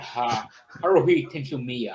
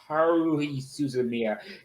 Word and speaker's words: Haruhi Suzumiya: I've heard similar things about Haruhi Tensumiya, Haru Suzumiya, or whatever it's called. How you pronounce the name? I can't speak Japanese. It's Haruhi Suzumiya.